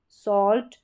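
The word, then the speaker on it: salt: ये साल्ट में एल साइलेंट नहीं है। आधा इसका उच्चारण है।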